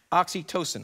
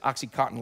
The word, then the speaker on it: oxytocin: it right uh neroporin dopamine and oxytocin i said oxycontin last service people laughed it's about as